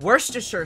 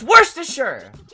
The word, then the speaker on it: Worcestershire: said whenever someone's made the word worcestershire sauce people say worcestershire it's worse to sure sorry i'm getting a